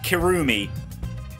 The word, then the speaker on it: Kirumi: let's look with V3 kirumi good example of this it's kirumi because you annunciate the not annunciate you stress the first syllable kirumi is more the